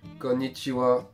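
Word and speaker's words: こんにちは: en japonais deous pour dire bonjour On dit kichiwa je vous conseille de vous entraîner à le dire en même temps que que moi kichiwa donc ensuite on a appris à dire bonjour konichiwa on va apprendre à se présenter quand on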